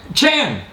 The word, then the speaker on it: Chan: How do you pronounce it? Chan.